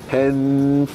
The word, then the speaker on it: Penfolds: Penfolds。